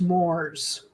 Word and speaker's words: mores: I think it's pronounced Moors.